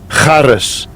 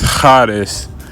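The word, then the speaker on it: charis: It means well, it's uh pronounced harris. Harris, and I'm going to let him say it. Strong G5485 karis. So it's karis and it means grace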